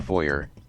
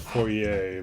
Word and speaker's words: foyer: I believe that's pronounced foyer, but whatever. Or maybe foyer. I think it's one of those weird words where it was like originally pronounced foyer, but then, it just got bastardized.